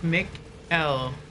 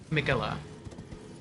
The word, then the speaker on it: Michaela: Squirmy says, I think it's Michaela, but like Mick-El. Say it quickly, like nickel. Oh, Mickle. Michaela.